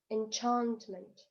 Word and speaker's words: enchantment: Enchantment, enchantment. Ударение падает на второй слог.